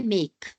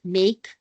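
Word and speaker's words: make: इसमें अगर आप ध्यान दें तो ए की जो साउंड है वो ए नहीं है। लॉन्ग ए है यानी नेम है। और ई इज a silent like मेक and fail.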